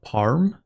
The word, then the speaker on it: Perm: It's pronounced with an A like in father. Parm. Why is it spelled with an E then?